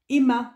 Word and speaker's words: HEMA: la dernière fois là Emma alors c'est pas comme le prénom ça s'écrit Hema et du coup puisque